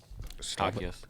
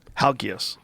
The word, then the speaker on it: Halkias: How do you pronounce his last name? Halkias. Halkias.